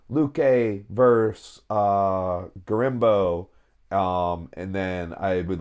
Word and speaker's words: Gorimbo: We got Vicente Luque versus Gorimbino. Did I say that wrong? Yeah, dude. I can't see that far. Gorimbo? Yeah. Spell it. Gorimbo. So Gorimbino. Gorimbo. Yeah. Yeah, okay.